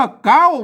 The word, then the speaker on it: เก๊า: นั่น แหละ อัน นี้ อ่าน ว่า เก๊า นะ ครับอ่า ไม่ ใช่ เค้า นะ ครับ อ่า อัน ตัว